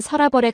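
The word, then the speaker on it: 서라벌: 표기는 여러 가지였지만 본래 발음은 설라벌에 가까웠다는게 한국 학계의 정설이라고 한정수가 메모해 놨더군요.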